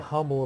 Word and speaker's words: humble: humble opinion. Humble. The H is silent, Jay.